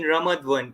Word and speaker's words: Ramat Gan: It is in Ramat Gan, if I pronounce incorrectly.